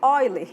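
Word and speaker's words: Euler: aqui o Ezinho tá e a gente pronuncia de oiler Então em vez de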